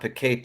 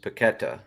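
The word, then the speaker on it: Paquetá: I gotta point out it's not paqueta it's paquetta uh yeah I've been saying that wrong but notice it after after a recent game that he also has an accent on the A on the second a so we've been saying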